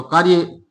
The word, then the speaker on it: क्रिया: इसको क्या कहते हैं क्रिया क्रिया नहीं है ये करिया है क्या है करिया और करिया का मूल